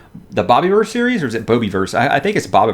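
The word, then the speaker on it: Bobiverse: I think it's pronounced bobby verse the Bobby were series or is it Bobby verse I think it's Bobby first because the main character's name is Bob but this is by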